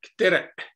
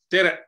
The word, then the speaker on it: tere: letter Q, and it you should pronounce like glottal stop, tere, tere.